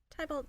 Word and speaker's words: Tybalt: i don't remember yeah tybalt is fine tubal is also fine it's been years since